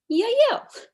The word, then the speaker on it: Yael: Y-A-E-L. Oh, Yael. Almost. More like Yael. Oh, Yael. Yes, but with a Y.